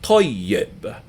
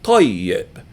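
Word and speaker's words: طيب: So this word is pronounced toyyib. Say that word to yourself, toyyib.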